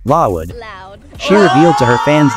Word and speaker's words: LLOUD: With a gleam of pride in her eyes, Lisa emphasized each letter, playfully elongating the pronunciation, Lawood.